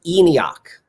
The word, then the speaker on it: ENIAC: uh e-n-i-a-c it's the electronic numerical but it's pronounced enoch just like enoch like nokian magic um two